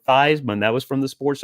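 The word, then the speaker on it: Theismann: Joe theseman that's right it was Joe theseman uh they changed the pronunciation of his last name to Joe Theisman that was from the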